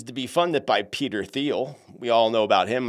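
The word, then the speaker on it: Thiel: But the same guy, the same guy, he's also Peter Theal or Teal. Depends on how people pronounce it, but it really is Theel.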